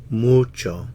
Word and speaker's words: mucho: lot mucho a lot mucho stress on the moo natural stress mucho a lot mucho he